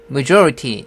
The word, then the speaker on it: majority: majority 할 때는 저 강하게 한다고 그랬잖아요. majority 해도 되는데 이 사람 같은 경우는 t를 죽이고 있습니다. 왜냐면 스트레스가 t에는 없잖아요. 그러니까 약하게 발음하는 거죠. 그래서 majority 이 정도 발음입니다.